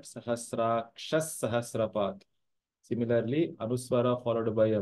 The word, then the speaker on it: सहस्राक्षः: So it is not Sahasrakshaha, but Sahasraksha Sahasrapat.